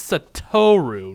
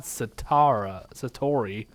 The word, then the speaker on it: Satoru: It's Satoru, not Satori.